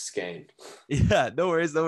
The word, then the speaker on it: Skahan: you pronounce it yeah so it's skein uh like you said which is kind of confusing because it's not at all what it looks like but yeah that's it's skein yeah no worries though